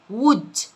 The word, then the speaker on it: wood: خشب wood، الدبل O بتنطق شورت.